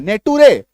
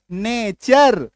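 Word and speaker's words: nature: उच्चारण क्या करते हैं नेटू रे नहीं नेचर क्या करते हैं उच्चारण हम लोग नेचर अब टी का उच्चारण जो है वो च हो गया क्यों हो गया क्योंकि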